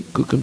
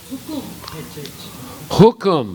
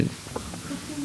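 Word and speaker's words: हुकुम: Hukum. Okay, here they spell it Kukum. That must be the Bengali pronunciation. Yeah. Hukum means like a kingdom or the order.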